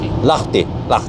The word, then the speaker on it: Lahti: Well, how do you pronounce it, by the way? Lahti.